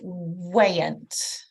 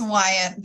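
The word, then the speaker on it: Wyant: I don't, No, but could I speak with Miss Wayant? Did I pronounce it correctly? It's Wyatt, but everyone does it, so I'm used to it.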